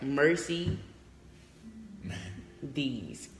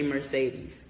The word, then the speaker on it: Mercedes: yes lady Merce Mercedes it's like mercy these it's spelt like Mercedes but this hastily merci these but if you saw it you would say Mercedes mostly yes mercy the root word mercy forgiveness should tell you